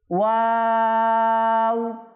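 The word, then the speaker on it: واو: ঠোঁটটা এই হরফটা উচ্চারণ করার শুরুতেও গোল থাকবে, শেষেও গোল হবে। দেখেন ওয়াও ওয়াও, মাশাআল্লাহ।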